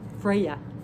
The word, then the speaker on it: Freyja: the card for version freyja i'm sorry that's how you pronounce it the j is silent okay don't play it